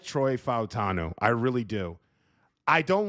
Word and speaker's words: Fautanu: So, not to not to overplay it, but I like Troy Fatnu or Fatanu or Fawutanu, however you want to pronounce it. There's like three different ways. It's actually Futanu. I like Troy Futanu.